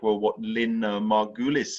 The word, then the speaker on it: Margulis: Lynn Margulis is the way I pronounce her name, I think.